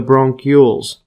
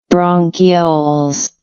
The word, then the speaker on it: bronchioles: bronchi that branch into numerous smaller tubes, the bronchioles. See this pronunciation? Bronchioles.